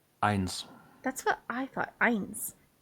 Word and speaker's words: eins: It's eins. That's what I thought. Eins. Yep. No idea why they went with AY, which is Yeah, traditionally not said that way.